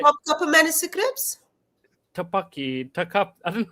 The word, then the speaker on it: Topkapı: If I'm saying it right, Topkapı manuscripts? Tupaki, Takap. I don't know how to pronounce it, Then, but it okay, says it here. I'll help you out, Mr. King, Mr. Muslim. Topkapı.